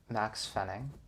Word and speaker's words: Maxx Fenning: a big clap why does everybody spell my name wrong for clarification my name is max fenning um but everyone says it wrong everybody says